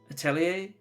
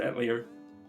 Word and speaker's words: Atelier: They pronounce it Atelier. But considering it's French, I wouldn't be surprised if they pronounced it Atelier.